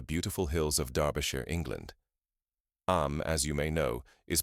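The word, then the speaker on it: Eyam: Am, as you may know, is pronounced just like Eam.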